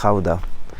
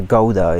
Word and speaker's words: Gouda: And another important city in the province of Utrecht is Gouda, or Gouda if you don't pronounce it the Dutch way.